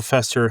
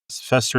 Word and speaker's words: Fester: Now, in the original 1960s sitcom, Fester is said to be Mortica's maternal uncle, and his name rhymes with that of British's mother. So Hester and Fester Hester and Fester Frump.